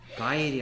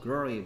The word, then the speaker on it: girl: Girl. 가일이 아니고요. Girl이 girl.